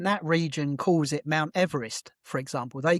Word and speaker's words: Everest: And he pronounced his name he pronounced his name Everest. Um, so we shouldn't even be calling it Everest even if we uh That's fascinating. We should probably call it Chumala, but Everest is absolutely the wrong thing because Yeah, absolutely.